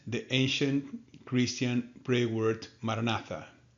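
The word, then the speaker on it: Maranatha: We recommend the ancient Christian prayer word marinatha. Say it as four equal syllables.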